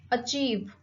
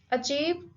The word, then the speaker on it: achieve: Achieve. Achieve, again this word has two syllable, achieve, and the stress is on the second syllable, achieve.